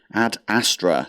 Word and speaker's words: Ad Astra: Ad Astra. That's how you say it.